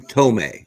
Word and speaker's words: Thome: in jim thom but pronounce it like t-o-m-e tome may and it'll say it back to you jim tommy you're like perfect save